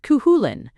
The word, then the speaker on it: Cuchulain: He told the story of Cuchilain, pronounced cuhulin, the hound of Koulain,